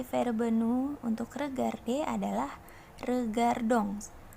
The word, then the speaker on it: regardons: Nah, konjugasi verbe nous untuk regarder adalah regardons. Belakangnya ada huruf ons, dibacanya ong. Kalau dalam bahasa Prancis, ingat ya, belakang huruf on itu dibacanya ong.